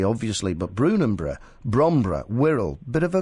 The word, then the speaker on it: Brunanburh: This was called the Battle of Brunanburh.